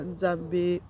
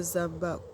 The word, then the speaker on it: Nzambe: Elle dit: nous prions Dieu Tata Nzambe ou Tata Zamba, comme ça se prononce au Cameroun, selon l'ethnie.